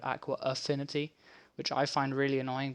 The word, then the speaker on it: Aqua Affinity: a silly name that most people pronounce as aqua infinity instead of aqua affinity which i find really